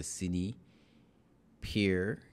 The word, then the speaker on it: CinePeer: this is the zione cx100 which is the cine Pier that's how they pronounce it that's how they pronounce it right